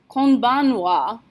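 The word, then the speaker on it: こんばんは: you really need to know is that we pronounce it konichiwa but rewrite it konichiwa same thing with good evening konbanwa konbanwa is written from ban ha even though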